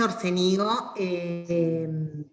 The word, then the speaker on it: Orcénigo: Es Orcénigo. Orcénigo es en Génova, pero acá lo han nacionalizado. Bueno, yo voy a seguir un poco.